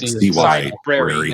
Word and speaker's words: Cybrary: like library, but it's like cyber, yeah, like Cybrary, like CYBRAY.IT.